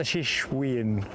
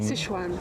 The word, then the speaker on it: Sichuan: So, is that the Shishwan one? Sichuan.